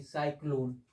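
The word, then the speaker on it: cyclone: देखिए हम क्या बोले सी के बाद अगर वा आता है तो उसका उच्चारण भी क्या होगा बताइए आप लोग सी होगा इसको हम क्या बोलेंगे साइक्लोन अब देखिए आप बहुत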